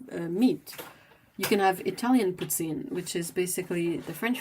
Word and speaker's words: poutine: You can have Italian poutine, which is basically the French fries, the fresh cheese curds, and some sort of pasta sauce on it. Do you pronounce the N? It's Poutine, poutine.